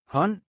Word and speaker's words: hånd: Let's try the words with ND combination. Listen well so you will notice the silent D. Spand. Pind. Vand. Hånd.